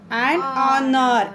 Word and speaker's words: honor: And Honor. H is silent here.